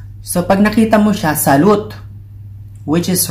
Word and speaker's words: salut: So, pag nakita mo siya, salut, which is wrong. Salut is pronounced as salut, hi pa rin yun.